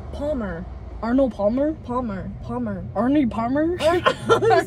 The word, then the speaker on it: Arnold Palmer: it's like because like I just want to say can I get a normal Palmer you don't even have to press the L Palmer Arnold Palmer Palmer Palmer Arnie Palmer